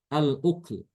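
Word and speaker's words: الأكل: Kemudian lafaz ukul, al-ukul. Maka Imam Ibnu Katsir di sini dengan mensukunkan huruf kaf. Al-ukl. Ketemu lafaz al-ukul dibacanya al-ukl. Kemudian lafaz yahsabu.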